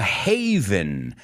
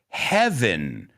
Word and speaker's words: haven: that's right so a haven refugio haven say it with me because i can understand why people might want to pronounce it like heaven right heaven right heaven